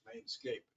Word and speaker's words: Mainscape: you pronounce it with an S on the end of it, and there is no S on the end of it. So it's Mainscape, not Oh, Main Street.